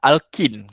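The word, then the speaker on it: alkene: Okay, propane ni adalah alkin. Kita panggil dia sebagai alkin. Alkini. Dia punya ejaan dia.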